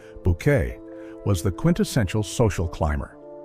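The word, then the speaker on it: Bouquet: Hyacinth, who insisted her surname be pronounced Bucket, was the quintessential social climber.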